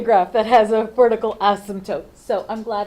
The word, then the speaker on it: asymptote: us find the horizontal asymptote with its silent P what is the horizontal